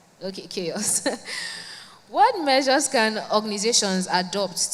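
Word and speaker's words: CHAOSS: Am I pronouncing it right, Chaos? Yeah. Okay, Chaos.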